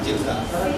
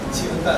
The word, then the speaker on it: Chilka: Chilka, sir, not Chilka.